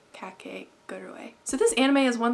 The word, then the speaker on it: Kakegurui: it right kake gerdaway i was saying kakaguri but i looked it up and it said cat cake got away so this anime is